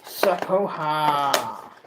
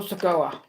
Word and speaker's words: Sikoa: So, next, we're going to move on to Solo Sikoa. No, I said that wrong. Solo Sikoa. I pronounced it with a H and I have no idea why. Solo Sikoa.